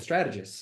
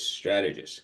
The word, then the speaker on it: Strategus: how to pronounce it just think of the movie Gladiator it's sort of like you know it's like strategist you know ramulus germanicus strategist so there you go